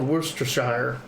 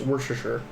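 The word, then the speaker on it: Worcestershire: the way of us the place is called werster Shire but the sauce is not pronounced that way even by the owners will say no it's worth sure sure you have to drop it out pretty so you said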